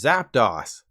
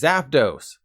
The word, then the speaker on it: Zapdos: But then I watched Seadog VA do a Nuzlocke and he called Zapdos Zapdos. It's Zapdos.